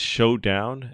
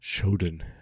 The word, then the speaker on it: Shodown: I guess it's Showdown.